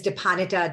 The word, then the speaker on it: Dipanwita: sorcero my name is depanita dance yes there is a silent w um but i also